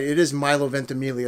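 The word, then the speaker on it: Ventimiglia: and I said it right it is Milo venelia it's not Milo it's Milo vent Amelia I've seen him do enough interviews and I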